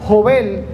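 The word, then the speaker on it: יובל: Yobel, que significa, o que se pronuncia Jobel, y que significa alegría, júbilo, regocijo, descanso.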